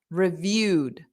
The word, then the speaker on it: reviewed: quickly reviewed the da because review is a verb and the Eed D doesn't add an extra syllable so it's da da reviewed so it's just a very soft D at the end d da reviewed the